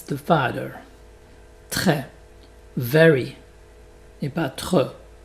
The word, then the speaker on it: très: Très. Very. Et pas trop. Donc très. Donc la bouche est beaucoup plus ouverte comme tu vois.